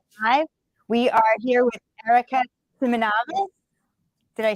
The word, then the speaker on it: Erica Simonavice: We are here with Erica Simonavice.